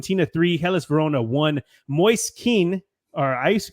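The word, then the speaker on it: Moise Kean: one finishes fan Tina three helis Verona one Moy kin or I used to call him Moes King but it's Moy Ken actually weird moist kin as it's pronounced is on fire right now as he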